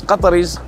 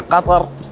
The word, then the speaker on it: Qatar: As Qataris, there's two ways we like to pronounce it. It's either Qatar or Qatar. In English, there's multiple pronunciations. Qatar, Qatar, Qatar. All of these work.